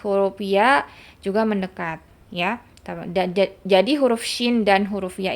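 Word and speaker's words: جَ: Jadi contoh ya, misalkan dia dibacanya fathah. Jadi jo, bukan ja, jo. Karena dia terlalu ke belakang.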